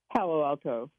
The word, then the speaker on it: Palo Alto: Palace Palo alt how do you say that Palo Alto oh okay thank you all right you're in